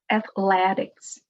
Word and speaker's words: athletics: Let's start with the word athletics. Athletics. Athletics. The stress is before the last syllable. Athletics.